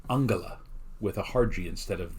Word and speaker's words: Angela: history in Germany her first name was actually pronounced Angela with a harji instead of the softji that we use here in the United States so Angela sounds like a nice person Angelo sounds like